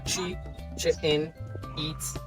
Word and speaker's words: Chichén Itzá: And this is why they call their city Chichen Itza. Well, the correct pronunciation will be Chi-chen-itza. Okay? Chi-chen-itza. Chi means mouth. Chen is a cenote.